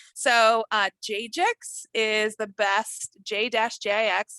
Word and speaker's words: JJix: So JJix is the best, J-JIX, like I'm a DJ, I'm not, but that would be my handle or something like that. So JJix is how you pronounce it, but as I always say, call me.